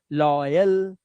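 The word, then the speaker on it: loyal: ओय ओय जैसे बॉय टॉय रॉय जॉय और लॉय अब लॉय में लास्ट में लगा है ए एल तो इसको पढ़ना है अल लॉयल लॉयल।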